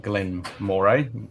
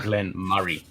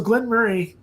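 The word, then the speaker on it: Glen Moray: this is one of those annoying ones everyone pronounces it Glenn Mor as it reads on the box but it's actually Glenn Murray it's one of those annoying ones that it's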